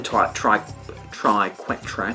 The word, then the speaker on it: Triquetra: So I like the Triquetra, that's just how it's pronounced, and I'm going to put it on my forehead for you today.